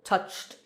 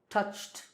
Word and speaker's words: touched: For example, touched, touched. This sound ch is voiceless, so touched, t.